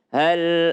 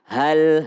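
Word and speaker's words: هل: Hal ataka hadithu Musa. Nah ini adalah insya Allah mudah untuk diucapkan. Yang penting huruf vokalnya A. Hal, ha, hal. Jadi bukan hal, tapi hal.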